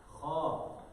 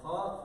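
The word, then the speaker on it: خ: And the dot one is going to be pronounced from the beginning of the throat. Understand or not? Pushing the air out. Kha, kha. Scratching. A little bit scratching.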